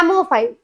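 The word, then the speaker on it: psammophile: सैमोफाइल, ये P silent है।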